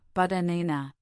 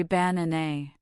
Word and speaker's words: banana: The stress is on the second syllable. The first and last syllables are both pronounced as a schwa, banana. This is the secret to a natural rhythm. We don't say banana. We reduce the unstressed vowels.